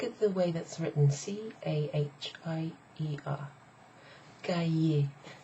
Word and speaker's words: cahier: Now, if it was just hier, it would be the word for yesterday, and it would be pronounced hier. Hier. But it's pronounced completely differently when it's got ca in front of it.